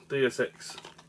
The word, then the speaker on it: Deus Ex: Deus Ex.